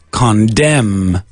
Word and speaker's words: condemn: In English is condemn.